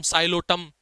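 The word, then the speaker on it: Psilotum: Lycopodium, एक्यूसम, साइलोटम P silent होगा इसके अंदर।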